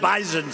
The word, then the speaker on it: bison: about bison I said I thought it was an S they said it is but it's pronounced bison so we didn't want to